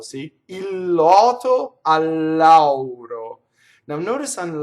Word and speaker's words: il lotto: So, if you have one word that ends in L and the next word begins with L, it's pronounced like it's one word with a double consonant.